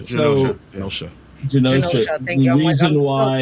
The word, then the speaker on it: Genosha: Anyways, Genoza, thank you. Yes. Genoza, Genoza, right? So Genosha.